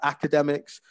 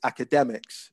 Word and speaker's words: academics: And you, at one point you're talking about academics, whereas it's academics. So the third syllable there.